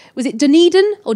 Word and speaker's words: Dunedin: Do you remember when you were in New Zealand, you went to a place called, was it Dunedin or Dunedin? Dunedin, yeah.